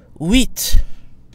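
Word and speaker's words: huit: is silent set set the tee at the end of the number eight is also pronounced weet weet the f at the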